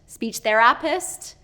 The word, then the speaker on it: speech therapist: said speech therap therapist speech therapist so he is pronouncing that's again that second syllable where it should be first syllable stress speech therapist speech therapist